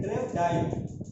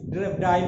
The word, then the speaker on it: Drevdahl: दूसरा जो डिफिनेशन हम लोग करेंगे वो ड्रेवडाइल का, हिंदी इंग्लिश में हम लिख देते हैं, हिंदी में उच्चारण लोग करते हैं ड्रेवडाइल, DREVDAHL.